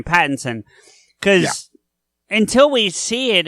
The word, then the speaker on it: Pattinson: I'm even that way about Patterson, or however you say his name, Pattinson.